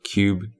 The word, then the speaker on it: QUBE: going to be discussing a game called cube - to be clear this is spelled with a Q q.u.b.e it is a game